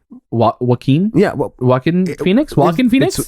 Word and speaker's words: Joaquin: one of our negative reviews that we kept mispronouncing Joaquin yeah walking Phoenix walking Phoenix it's it's Joaquin yeah yeah